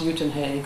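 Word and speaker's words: Uitenhage: from a nearby smaller town called well it's pronounced uten head or anyway it's near Port Elizabeth and um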